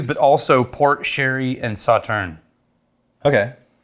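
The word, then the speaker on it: Sauternes: This was not just their normal casks that they use, but also port, sherry, and sauterne. Okay. Or as the wine people pronounce it, sauternus.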